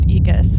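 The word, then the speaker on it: Aeacus: Ecus. It's pronounced Ecus. Okay. It's also spelled Eacus sometimes too. Okay. Ecus.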